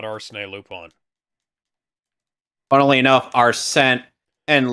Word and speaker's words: Arsène: You think it is spelled, but it's pronounced Arsène.